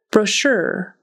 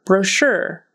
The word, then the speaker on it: brochure: t- sound developed developed brochure brochure that CH is going to be pronounced like an sh so it's sh brochure